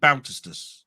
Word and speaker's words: Bautista: and then I'm going right how would I pronounce that so boutas Bas so Dave bautistas is that right yeah that's how I try